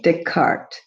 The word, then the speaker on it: Descartes: system created by rene descartes you don't pronounce the s because it's french so he was a